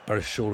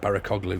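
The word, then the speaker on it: Barışoğlu: Barishoglu, that's how you pronounce it. Sorry, I used to call it Barakoglu. It was Barishoglu.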